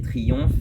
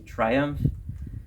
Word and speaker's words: Triumph: On a le tout début de Triumph, que les Français vont prononcer Triomphe, mais en vrai ça se dit Triumph.